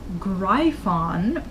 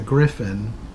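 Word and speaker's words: gryphon: to the greif on according to them was apparently the way to pronounce that like everybody pronounced it as greif on its a Griffin I don't know where they got the pronunciation of greif on from one of the things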